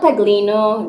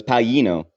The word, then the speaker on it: Paglino: an Italian is pronounced the Italian language has a tricky uh tricky pronunciation with the GLI it's pronounced Yi so it's Paulino it's really hard to